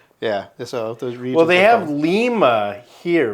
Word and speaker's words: Lima: grow a lot of lima beans there I'm like really and you know yeah like okay now I know how to pronounce it cuz now I associate it with lima beans on mispronouncing it in